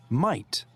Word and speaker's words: might: We don't pronounce the letters G and H.